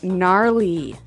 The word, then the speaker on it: gnarly: the ski instructor say gnarly gnarly run yeah gnarly so an interesting word it's spelled g n a r l e y okay so but you don't say gnarly no you say gnarly yep and a related